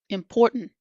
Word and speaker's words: important: Important. Certain mountain. Eaten. Button. Cotton. Written. Curtain. Forgotten. As you can see, we do not pronounce that T so strongly that comes before the N.